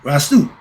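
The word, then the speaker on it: Restau: Rasta like that, but it's spelled R-E-S-T-A-U. Okay, Rastu.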